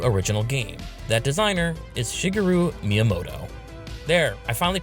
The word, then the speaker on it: Shigeru Miyamoto: design a new original game that Designer is Shigeru Miyamoto there I finally pronounce his name right are you happy are